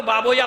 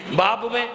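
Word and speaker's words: بابویہ: دیا کہ بعض اوقات لوگ اس کا تلفظ صحیح نہیں کر پاتے، بابوے کو بابویا پڑھتے ہیں، کیا پڑھتے ہیں؟ بابویا، سیبویا، اولویا، یہ نہیں ہے، بابوے، اولوے، سیبوے۔ صلوات بھیجئے محمد آل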